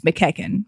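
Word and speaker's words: McEachin: It is good to know that it's McKecken because people don't know that it's pronounced that way.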